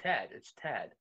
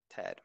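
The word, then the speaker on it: Tadhg: Tad. Not Tad. Tad, my fault. It's because of the way it's spelled, you know what I mean?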